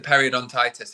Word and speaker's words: periodontitis: don't think I'm going to say this right, periodontitis? Periodontitis, yes. That. I wrote it down, but I had no idea how to pronounce it.